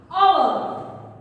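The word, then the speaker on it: hour: Another, our. Here our also, before our I will use N. Why? Because here H is silent.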